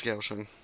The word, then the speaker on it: Kaohsiung: I think it's Kaohsiung. It's with a G instead of a K.